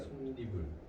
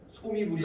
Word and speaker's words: 솜이불: 그래서 솜과 이불이 만나면 솜니불이야. 솜니불. 솜이불이 아니라 솜니불.